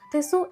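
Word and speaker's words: テツ: അല്പം നിരാശ തോന്നിയെങ്കിലും ടോറുവിന്റെ ചൈനീസ് രീതിയിലുള്ള ഉച്ചാരണമായ തെസു എന്നവർ തിരഞ്ഞെടുത്തു.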